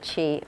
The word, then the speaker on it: CHI: Except there's more sounds, like the event you're at, which is Kai light, but you might also want to pronounce it chi or chai.